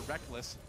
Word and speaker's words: Rekkles: I still want to call him Rekkles, but I've just gotten so used to calling him Reckless because he says so.